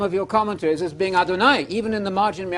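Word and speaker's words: אֲדֹנָי: You know Adonai, it rhymes with El Shaddai, El Shad. You know it. Adonai.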